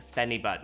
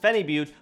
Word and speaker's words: phenibut: effects these are things like alpha gpc and fanny bot now i realize some of you commented that it's actually pronounced phenibut but i'm gonna keep calling it funny but so these two are probably two of my